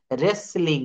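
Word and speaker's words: wrestling: হু right রং কু হু আরো একটি রয়েছে রেসলিং রেসলিং শব্দের অর্থ হচ্ছে কুস্তি কুস্তি খেলা আছে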